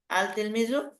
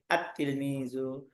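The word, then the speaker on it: التلميذ: যেমন তিলমিজুন শব্দের শুরুতে আল লাগাই দিলে দেখতে আসবে আল তিলমিজু, পড়তে আসবে আত তিলমিজু।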